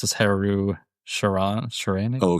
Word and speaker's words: Shirane: The scholar, I'm not sure how to pronounce this, Haru Shirane? Oh, Shirane, yeah.